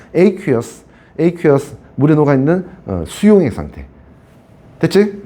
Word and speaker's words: aqueous: 아쿠아라는 발음하지 않습니다. aqueous.